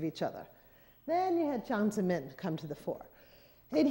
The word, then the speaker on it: Jiang Zemin: Jiang Zemin.